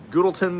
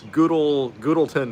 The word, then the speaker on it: Goodlettsville: Is it Gudelberg or Gudelton, or I don't know.